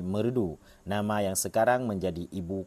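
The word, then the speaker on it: Meureudu: japakeh pada tahun 1620 dua kata yakni merah Danu pengucapannya lama-kelamaan berubah menjadi merudu nama yang sekarang menjadi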